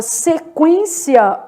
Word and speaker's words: sequência: Já na palavra sequência, olha o que que tá acontecendo. Se quência, eu tenho um dígrafo, mas é o e n u é pronunciado, tá?